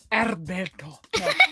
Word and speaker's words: Alberto: Luca's best friend named Alberto is that how they say it yeah Alberto Alberto Alberto yep Yeah question three what